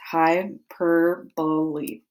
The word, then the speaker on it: hyperbole: The four-letter syllable pronounced hyperbole.